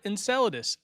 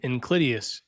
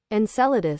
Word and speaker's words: Enceladus: Then we've got Enceladus, another hard one to pronounce. In- Inclideus. En- En- Enceladus. Enceladus.